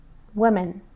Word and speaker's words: women: بچه تلفظ این خیلی مهمه. women دوتایشون همونطور که می‌بینیم قسمت M-A-Nش با این M-E-N شبیه هم تلفظ میشه. woman، women. ولی اون قسمتی که عوض میشه این او است.